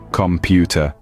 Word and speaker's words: computer: the stress syllable ready first up computer listen carefully computer did you catch that the second syllable pu is stressed let's try another one